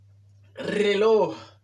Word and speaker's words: reloj: Reloj. Ça, moi, ça, y a pile là, c'est qu'on mal prononcer ça.